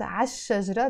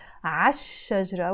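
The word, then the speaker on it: الشجرة: start with a sheen when we add L before it we don't pronounce the sound we just pronounce azshara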